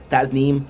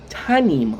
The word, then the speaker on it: Tasnim: But hey, you're going to come out of the come out of the blue and say, "Hey, the s is silent." I'm like, "Oh, tanim."